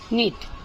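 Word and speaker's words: knit: Cnit. K is silent.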